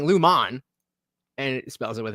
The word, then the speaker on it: Lumon: love how all the captions always spell it's Lumen l m o n but everybody says Lumen and then the the autoc captions always correct it to l m n and she's specifically saying Luman and it spells it